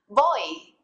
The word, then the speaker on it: voy: In Spanish, v's and b's sound a lot alike, and they're pretty much just a mixture of the two letters. Boy, repeat.